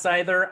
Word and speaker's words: Seither: It's pronounced Seither. I'm not faulting you for it because it's spelled incorrectly. It's actually my fault. It's an old German spelling, so it's Seither.